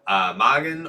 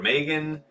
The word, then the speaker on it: Mågen: to say too much because I did see Mågen or Megan is following the stream now. So yeah, you're talking. I pronounced it correctly the first time, Lord Ryan.